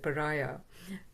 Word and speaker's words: pariah: So that's how we pronounce it, pariah. But in Tamil it's paraya.